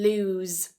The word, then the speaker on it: lose: Loose loose. So that ending is a s, it's voiceless, loose. The second one lose lose. You hear the difference? Loose. That second word has a voiced s a t the end.